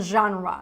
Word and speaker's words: genre: saying that Rhythm and genre so this word here we say genre really genre and be careful because